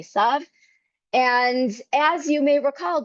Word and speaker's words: Esav: And in English, Jacob is often pronounced Esau. I'm going to say Esav.